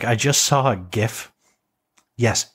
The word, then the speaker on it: GIF: I just saw a gif yes GIF hard G peanut butter proved it um